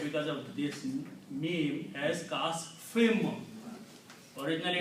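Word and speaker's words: كَعَصْفٍ: of this meme as kasfim. Originally it's kasfin, but because of the meme which is appearing after fa, it's the sound of this noon is pronounced as sound of this meme.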